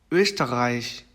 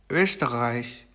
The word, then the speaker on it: Österreich: 그 다음 이제 오음라우트 발음인데요. 이거는 으 발음을 합니다. 으. 그래서 입 모양은 오를 유지를 한 채 왜 한국어로 왜 발음 있죠? 그렇게 발음을 해주시면은 그나마 비슷한 발음이 나온다고 보시면 되겠습니다. 그래서 제 단어 예시를 보면은 Österreich, Österreich, Lösung, Lösung 이렇게 됩니다.